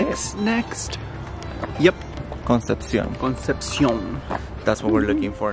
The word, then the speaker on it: Concepción: Concepción.